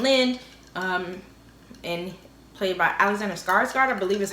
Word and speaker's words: Skarsgård: Nathan Lind, and played by Alexander Skarsgård, I believe is how you say his name.